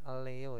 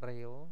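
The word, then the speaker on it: 려: Nah, ini bacanya Leo ya. Bukan Reo tapi Leo.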